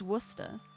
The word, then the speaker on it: Worcester: Um, so basically, um, this is pronounced Worcester.